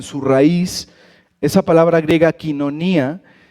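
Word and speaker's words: κοινωνία: Seguramente la mayoría ubicamos esta palabra como koinonía, ¿no? Pero realmente se pronuncia quinonía.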